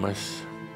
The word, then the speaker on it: Adamus: (pause) Adamus, Adamus (pronounced “Ah-da-mus”) is not just a little village in Romania.